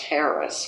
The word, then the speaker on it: harass: Harass, which he always insisted be pronounced Harris, which I don't agree with, but I did it.